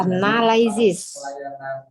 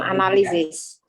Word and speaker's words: analysis: and contact detail of Analysis. Dibacanya analysis, bukan analisis.